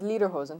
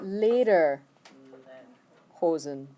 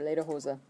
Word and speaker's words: Lederhosen: the word lederhosen before you haven't heard lederhosen where you shouldn't have if you did they said it wrong okay it's later chosen or later hoza just leather pants haha